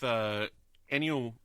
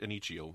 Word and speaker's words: Ennio: I wanted to add to that with Ennio, not Ennio, Ennio. You know, you say Ennio, I say Ennio.